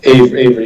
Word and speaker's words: AVRI: So there's an acronym, AVRI. Yeah, we call it Avery.